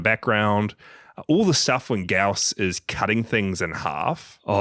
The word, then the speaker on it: Gyaos: And then we see Gyaos. Gyaos.